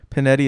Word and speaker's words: Panetti: panetti with two bees panetti is p-a-n-e tti rhymes with spaghetti so easy to remember nice it's mexican it's